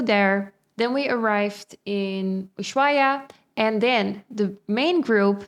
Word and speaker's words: Ushuaia: I always pronounce it wrong. Ushuaia.